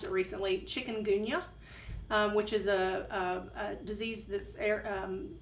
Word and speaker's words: chikungunya: she had developed, I just learned how to pronounce it recently, chikungunya, which is a disease that's carried by mosquitoes.